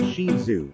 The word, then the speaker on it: Shih Tzu: The Shih Tzu, pronounced Shih Tzu, is one of the most popular dog breeds in the United States.